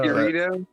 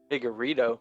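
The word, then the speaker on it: Figueiredo: though, I want Jordan to pronounce Figgy's last name. Okay, please. Let's do it. Okay, next fight. No, no. Figurito? Oh no, Figueredo.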